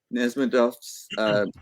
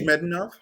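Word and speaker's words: Nezhmetdinov: So do you think not only is it Nesmedov's, or say it correctly for me, Nizhmedinov?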